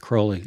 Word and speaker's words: Crowley: you know was a disciple of Crowley it's pronounced Crowley alist Cy I didn't know that okay good